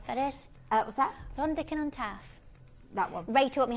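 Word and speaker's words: Rhondda Cynon Taf: I don't know if I pronounced that correctly. Rondican on Taff. That is. What's that? Rondican on Taff.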